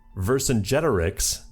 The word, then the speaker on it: Vercingetorix: Vercingetorix, that's right, I learned how to pronounce it, sides with his former enemy Wilhelm II to fight against the 2 Sicilies.